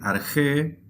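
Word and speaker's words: ἀρχή: traducimos tal cual en al español en dice arge sí argé en el principio en Principio o en el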